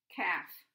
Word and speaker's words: calf: spelling also is changed also I'd point out that this l and this l here too is silent so when you listen to the words maybe you'll be able to see that there are some there's a silent letter there okay half halves knife